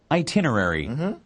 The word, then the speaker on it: itinerary: 자, 마지막 단어 발음이 좀 어렵거든요. 집중해서 한번 들어보세요. Itinerary.